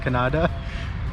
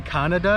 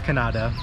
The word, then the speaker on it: Kannada: I think that's pronounced Kannada. We don't want to say Canada because it sounds like Canada, but I think it's Kannada.